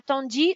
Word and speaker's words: tandis: Tandis qu'à, et bravo à notre gentille demoiselle tout à l'heure, Kratena a tandis, très bien, tandis, le S ne se prononce pas.